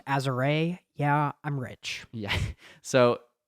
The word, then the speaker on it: Azure: It's actually pronounced Azure.